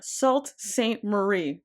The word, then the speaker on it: Sault Ste. Marie: Uh, and today we find ourselves in Salt St. Marie. I said that right this time. I said it right.